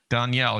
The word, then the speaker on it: Danielle: Danielle. Yeah, she said I like and.